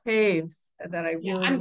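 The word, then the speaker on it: Toews: I read a book by Miriam, I don't know how to pronounce her name. Taves. Taves.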